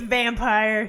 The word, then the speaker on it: Vampyr: It's Vampyr. It's just a fun way of spelling vampire. I don't know. I know if I was developing this, I would be calling it just Vampyr to everybody all the time.